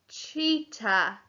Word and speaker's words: cheetah: Cheetah. Cheat, ch, eat, ah, and there's a silent H at the end.